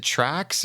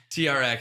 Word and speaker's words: TRX: to pronounce this, but do you say TRX or is it Trax or something training? TRX. TRX, yes. okay.